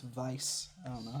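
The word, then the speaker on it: Weisz: I don't know if they're still together, but supposedly Rachel Wise Actually, her last name is pronounced Vice.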